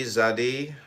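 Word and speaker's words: Tsadi: Zadi, pronounced Zadi. Zadi, transcribed as TZ, the number 90, meaning fishhook, the natural intelligence.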